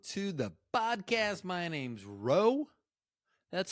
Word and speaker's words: Ro: My name's Ro. That's spelled R-O, not R-O-W, like in row your boat.